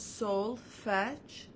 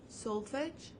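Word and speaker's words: solfège: before it's just pronounced soul fetch soul fetch so it's kind of like a fetch like you you pull your dog and you play fetch so it's gonna be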